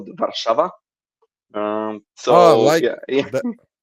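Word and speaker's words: Warszawa: The pronunciation. I mean, that's the that's the that's the English name for it. Yeah. Warso.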